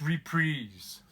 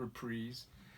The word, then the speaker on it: Reprise: know there's people oh it's it's reprieves and yeah I guess it is supposed to be pronounced to reprise there's even a clip